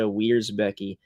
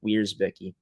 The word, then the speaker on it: Wierzbicki: Was supposed to have defenseman number 29 Natasha Wierzbicki on the show as well, or Wierzbicki as I should pronounce it, but ran into some internet difficulties with her.